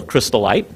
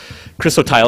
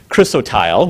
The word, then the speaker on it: chrysotile: which is a mineral crystalite chrysotile excuse me I always say it wrong she always gets mad at me chrysotile which is asbestos um